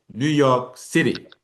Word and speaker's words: New York City: York, but you are going to say New York City. So you always pronounce the last word in a compound proper noun with a stress on the last noun.